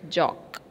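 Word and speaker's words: joke: j o k e when we read the word more their e was silent here also he is silent okay j o k e we will pronounce it as jock understood once again reading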